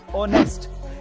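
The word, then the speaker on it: honest: Number two, अगर किसी word में ओ से पहले एच आए तो उसमें एच साइलेंट रहता है, जैसे कि ऑनर, आवर, ऑनेस्ट।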